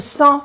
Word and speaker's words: sens: Je me sens fatigué. Sens fatigué, aquí no se pronuncia la S.